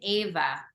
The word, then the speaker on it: Eva: Eva the word that the name Eva is pronounced Ava there and there's an Eva